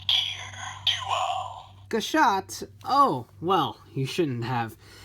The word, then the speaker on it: Gashat: gear duel just because I felt somewhat validated in the way that I've been pronouncing gashat for several several several of my XA videos instead of gashat so we are here